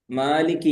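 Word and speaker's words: مالك: ഉഷാറായിട്ടുണ്ട് നന്നായിട്ടുണ്ട് അതില് എനിക്ക് മാലിക് യൗമിദീൻ എന്ന ഭാഗത്ത് ചെറിയൊരു കൺഫ്യൂഷൻ വന്നിരുന്നു മാലിക് യൗമിദീൻ ചുണ്ട് പൂട്ടി പോയോ ചുണ്ട് പൂട്ടി പോയാൽ മീം ആകും മാലിക് എന്നറിയാണ്ട് മീം ആയി പോകും തെറ്റാകും അതുപോലെതീനം അലൈഹിം അൻത എന്നതില്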